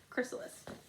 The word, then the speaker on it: chrysalis: chrysalis it's actually suppose CH chrysalis but it's pronounced chrysalis the chrysalis is also called the pupa every